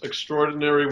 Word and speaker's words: extraordinary: I want you to underline the words extraordinary woman. Okay. And put what they will learn in the work is called a downbeat. It's an accent, extraordinary, on the second syllable of that word.